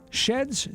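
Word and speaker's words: Shead: We don't have a lot of, like, publicity recognition, like when we went to the competition, they pronounced this as she'd not shed.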